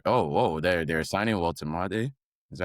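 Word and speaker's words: Woltemade: right Newcastle are oh whoa they're they're signing Wam is that how you say it yeah voltade Newcastle defending cap uh camps.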